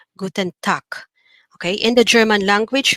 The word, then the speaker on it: Guten Tag: one here we have guten tak okay the g here at the end is pronounced like a letter k guten tak okay in the german